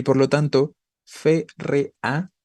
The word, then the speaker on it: férrea: Y por lo tanto, férrea tiene tres sílabas. La palabra férrea es esdrújula, ¿no? Y como palabra esdrújula, debería llevar tilde.